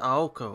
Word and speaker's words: Aoko: I can't believe this I did not say ow I said aoko I don't know what